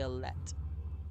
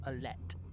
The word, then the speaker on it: Alette: I say Alette. You mean this girl? Rook's daughter is Alette, not yet human.